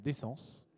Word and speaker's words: DECENZ: créer ce collectif là qu'on appelle d'essence. Euh euh voilà, c'est comme ça qu'il faut le prononcer.